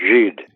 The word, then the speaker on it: Gide: Dialogues where he debates with people like Andre Gide, if that's how you pronounce his name, and Oscar Wilde, and that sort of... Yes, it's Gide.